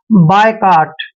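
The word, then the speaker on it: boycott: इसको कैसे पढ़ना है बी ओ वाई को हम हमेशा बाय पढ़ते हैं क्या पढ़ते हैं बाय ऐसे बाय पढ़ना है और सी का उच्चारण यहां पर क करेंगे ओ को हमने ओ लिखना है ऐसे और डबल टी का उच्चारण ट करते हैं बाय काट बायकाट होता है बहिष्कार करना किसी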